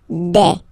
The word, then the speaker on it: des: Okay, and then the plural form, des. All right, here a s, you pronounce it like a.